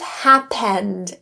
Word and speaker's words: happened: The vowel here can be reduced to awah. So instead of happened e as many might expect, it's reduced to pun. Think of it like p to n right away. Or you can think of it like awah. Just means the vowel is so quick. It's almost gone and it's neutralized to pun happen.